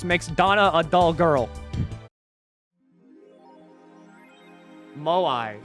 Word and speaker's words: moai: donna a dull girl moai is how you say it this thing maui more